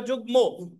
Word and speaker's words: যুগ্ম: of joint district জাজ অনেকে আপনারা এখানে আছেন যুগ্ন উচ্চারণ করে জয়রসু গ ন বলেন যুগ্ন এটা হবে যুগ্ম এটা মফালা ঠিক আছে তাহলে যুগ্ম